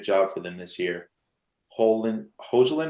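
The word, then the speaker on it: Højlund: Hojlund, how do you say his name? Hoyland.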